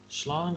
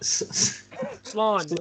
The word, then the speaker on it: slán: Slán lat. Slán lat. Slán gafol. Slán gafol. Slán fol. Like. Say it again. Slán gafol. Slogful. Nope. Slán. It's like lawn with an S at the start.